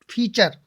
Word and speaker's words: feature: URE यानी कि टी के बाद URE आए और टी के बाद URE आ गया तो क्या बनेगा? टी का उच्चारण च होता है। क्या होता है? च।